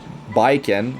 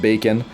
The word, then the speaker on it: Baiken: rate up uh bacon and uh bikon not bacon I believe that's how it's pronounced not bacon uh uh